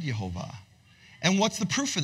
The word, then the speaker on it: Yehovah: They say, in this world, the name is written Yehovah and read Adonai. That's the tradition I was raised with. That started in the second century. In the world to come, it will be one. Say one. Written Yehovah and read Yehovah.